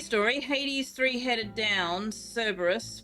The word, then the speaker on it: Cerberus: Hades three headed down Cerberus pronounced kerberus yeah in Greek cus means spotted Hades named his dog spot too uh i' I've always been told it was pronounced Cerberus and I've always pronounced it Cerberus I've never heard it pronounced kerberus put the kid's head